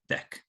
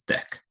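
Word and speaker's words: deque: ended queue means next class and it's usually pronounced deck okay so this is helpful because it's not obvious how to pronounce this word uh but anyways the way it's usually pronounced is deck um and then here they give you a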